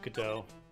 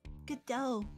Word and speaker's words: Godot: That's not the only time T is silent in words.